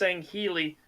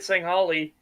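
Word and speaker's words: Sangheili: Scoopmeister, it's pronounced Sangheli. No, I've always heard it Sanghali, and then the planet is Sanghelios.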